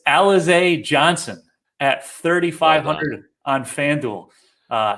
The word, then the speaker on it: Alize Johnson: thing but i'm i did look up the pronunciation it's alize johnson at 3500 on fanduel uh he crushed the